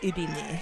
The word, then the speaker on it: Irene: If you use Māori vowels, it looks like Irene, but actually said Irene.